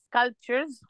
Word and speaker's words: sculptures: sculptures sculptures، البي بننطقها خفيف قوي sculptures sculptures، تحس ان احنا كانها مش باينة. تمام، وبعد سكالبتشرز كده ال T U R E S دي بتبقى تشيرز تشيرز، يبقى سكالبتشرز.